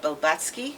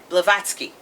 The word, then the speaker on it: Blavatsky: of uh of helena bilbatsky am i pronouncing the name right yeah blavatsky uh and uh her